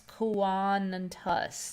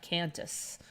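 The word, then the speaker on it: Qantas: service travel Club agency it was Quantus yes kawan and tus not cantus I I think now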